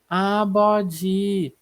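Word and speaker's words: 아버지: Então, como ele tá aqui no meio, ele tem o som de B. Vai ter esse som de B ali na segunda sílaba. Então a gente fala abó, né? Abó. E como o tia, o nosso J, ele tá aqui também na última sílaba, então ele tem o som de DJ. Então a gente fala abodi, abodi, que é o nosso pai, né?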